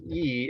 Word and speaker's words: y: And this word Y that pronounces E is pronounced as two E's and means like and.